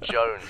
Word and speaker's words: Jones: for the millionth time my name is pronounced Jones I can't believe that's Gavin Co seriously lots of people have the name it's very common how am I the